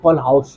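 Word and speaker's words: Kohlrausch: क्या बोलेंगे इसे, कॉलो कोचो कौआ कौआ लो, अरे नहीं भाई इतना अजीब प्रोनाउंसिएशन नहीं है, हाँ बहुत डिफरेंट नेम है, इसको एक्चुअली में बोलते हैं कॉल हाउस लॉ।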